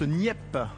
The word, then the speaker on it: Nieppe: Ça se prononce NIP.